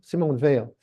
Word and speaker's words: Simone Veil: Like Simone Wales, Veil, how do you pronounce her? Simone Veil? Simone Veil.